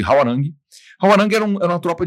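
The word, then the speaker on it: 화랑: grupo de elite chamado harand ou Alguns falam de hwarang né a gente encontra as duas pronúncias né tanto de povos coreanos como brasileiros então eu chamo de hwarang hwarang era er uma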